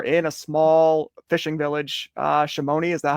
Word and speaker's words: Shimoni: So you were in a small fishing village, Shimoni. Is that how you pronounce it?